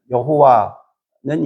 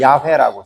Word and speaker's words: 야훼: 그래서 성경에 보면 여호와는 이제 발음이 잘못된 거니까 그거는 안 쓰고 야훼라고 쓰는데 이렇게 이름을 자기밖에 아는 자가 없다.